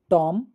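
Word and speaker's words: tomb: टॉम Baum com आया समझ? हम टॉम पढ़ रहे हैं, बी नहीं पढ़ते हैं। बॉम पढ़ रहे हैं, बी नहीं पढ़ रहे हैं। कॉम पढ़ रहे हैं। बी नहीं पढ़ रहे हैं। मतलब यहां पर बी साइलेंट लेटर है।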